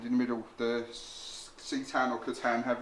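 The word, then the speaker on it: C'tan: mhm and in the middle the Sean or kutan have its pronounced Shard of the nightbringer okay so no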